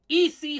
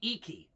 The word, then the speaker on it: Ecce: to say this, the esse homo, where Nietzsche cries out, "Have I made myself clear?" Dionysus against the crucified. It could be Ecce. It's spelled E-C-C-E. So sorry if I mispronounced it.